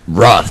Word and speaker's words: Roth: was that right no pronunciation is Roth not Ruth but his pronunciation a